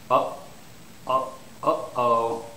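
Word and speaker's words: uh-oh: of the throat muscles uh oh so here it's oh then there's a o okay stress is on the first syllable so it's uhoh and when do people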